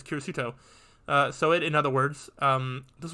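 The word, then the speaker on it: キリスト: I've heard that Kiri symbolizing 10 comes from the Christian cross, which is shaped like the character for 10 and Christian being pronounced as Kirisuto.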